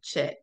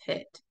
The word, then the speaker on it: het: Some say chet, but it's het.